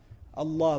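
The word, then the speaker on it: الله: say Allah Allah but what do we say when we pronounce Allah we make it heavy we break the norm of the Arabic language for this word it defies all principles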